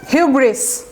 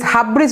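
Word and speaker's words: hubris: হিউব্রিস, এটা কিন্তু এস উজ্জ্ব থাকবে না। আমার খালি মনে হতো আগে যে এস মনে হয় উজ্জ্ব থাকবে, হিউব্রি বা something, but actually as ইট ইজ উচ্চারণ হিউব্রিস। হিউব্রিস, হাবব্রিস বলবেন না আবার। এই যে ইউ হবে, হ্যাঁ, হর্ষউ আমি লিখে দিলাম। হিউব্রিস, এসটা উচ্চারণ হবে, do pronounce the এস, হিউব্রিস।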